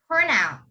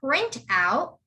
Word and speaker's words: printout: The next one is printout, printout. You don't say print out, you would say printout, printout. Can you guys say that?